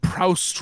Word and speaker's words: Proust: heard it it's proof you don't pronounce the t what would proust what